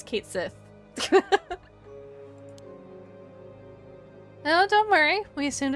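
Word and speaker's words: Cait Sith: And people don't even know it's pronounced as Cat Shi. I think it's Kate Sith.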